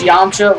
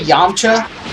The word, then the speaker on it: Yamcha: Also, am I the only person that pronounces Yamcha with an N? Seriously. Like, I don't say Yamcha, like with an M, I say Yamcha. For like the longest time, I said Yamcha. Like yawn, like a yawn, like you're tired.